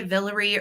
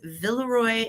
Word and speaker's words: Villeroy: and um Valerie and you know people say a villery or Villeroy I actually Googled how to say it because I don't want to come off like a boob during my live sales so I Googled it and it was villaroy and Bosch that is actually the